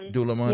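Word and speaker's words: Dúlamán: By the way, the last selection let's see if I pronounce it right. Dalaman. Yeah, Dulaman.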